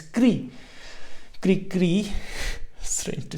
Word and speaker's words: Krikri: But when you're reading in Sanskrit, or very similar to German, you pronounce each syllables and it becomes Kri. Kri Kri.